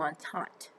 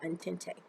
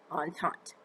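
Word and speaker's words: entente: they created the triple on taunt that's how you pronounce that on taunt not antente on taunt they formed that in 1907.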